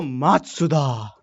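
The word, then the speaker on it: Matsuda: धीरे धीरे बोलूं तो मात्सुदा।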